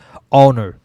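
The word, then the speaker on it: honor: অনার, এখানে ওর মতো উচ্চারণ হয়েছে।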